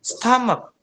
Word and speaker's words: stomach: Tapi how do you pronounce it? Tapi gimana kalian ngpronun itu? Gimana coba? Apakah stomat? Stom. No, of course. When you open the dictionary, you have to hear first. And they say stomach.